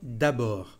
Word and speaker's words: d'abord: Cómo iniciar, cómo presentar una idea con ese primer conector d'abord. Hay que cuidar con la pronunciación. D'abord, la última letra no se dice.